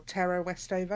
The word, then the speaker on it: Tara Westover: been reading educated by tara westover or tara westover as she pronounces it which you can